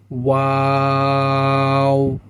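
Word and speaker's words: واو: এখানে একটা জিনিস মনে রাখবেন, ওয়াও উচ্চারণের ক্ষেত্রে আমরা যখন ওয়াও উচ্চারণ করব, শুরুতেই ঠোঁটটি গোল থাকবে এবং শেষে গিয়েও কি হবে? ঠোঁটটি গোল হয়ে আসবে, অর্থাৎ শুরুতে গোল হবে, মধ্যের সময় ঠোঁটটি স্বাভাবিক অবস্থায় ফিরে আসবে এবং শেষে কি হবে, ঠোঁটটি আবার গোল হয়ে যাবে।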